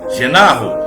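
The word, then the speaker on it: γεννάω: No grego, nascer de novo, a pronúncia dá como genarro, né? Genarro, que a pronúncia grega, genarro.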